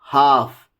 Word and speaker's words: half: The letter L is usually not pronounced after the vowels A, O and U.